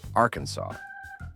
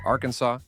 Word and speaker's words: Arkansas: officially declared that the state's name must be pronounced Arkansas. Not Arkansas, not Arkansas, just one single state approved way.